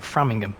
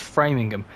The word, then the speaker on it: Framingham: I think it's pronounced I keep calling it Framingham cuz I'm English and that's how I pronounce things but apparently it's framing them you got another piece